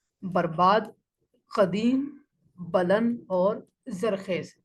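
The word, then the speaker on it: بلند: इसको हमें बहुत सारे लोग हमें यहाँ पर इस लफ्ज़ को बुलंद पढ़ रहे होते हैं, हालांकि इसका दुरुस्त जो इमला है और जो दुरुस्त इसकी प्रोनाउंसिएशन है वो है बुलंद। यानी बा के ऊपर ज़बर है, ये फारसी ज़बान का लफ्ज़ है बुलंद।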